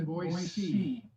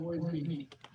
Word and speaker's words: Boise: We've since moved to, I'm learning they pronounce it Boise. Like oh, it's not a Z, it's an S. Instead of, like the rest of us pronounce it Boise.